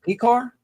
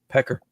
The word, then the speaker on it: Piskor: him in uh Cleveland is it PE car I always said pecker I think it's I think they pronounce it PE car but I think you probably could say pecker icker pecker H pecker